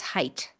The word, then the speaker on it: height: It does not rhyme with width. It's height.